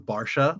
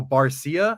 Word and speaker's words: Barcia: It's actually not Barcia, it's Barcia. Right. And it's hard. It's like it sounds different. So Barcia, and then it's Barcia.